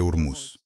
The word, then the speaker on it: Hormuz: O russo pronuncia o H quando é uma palavra com H. Mas, por algum motivo, eles não... É Hormuz. A pronúncia per se é Hormuz.